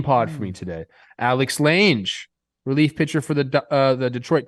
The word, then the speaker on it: Lange: Riding That's how I around came up with town in Lange. the big old Lange, definitely. Like a mange. Definitely Lang.